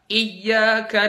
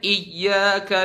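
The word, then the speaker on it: إِيَّاكَ: Irama apapun di Alfatihah jangan pakai irama yang dia itu enggak pakai naber misalnya iyaka na'budu wa iyaka nasta bacanya iyyaka na'budu wa iyyaka nasta perjelas naber di situ contoh di huruf ww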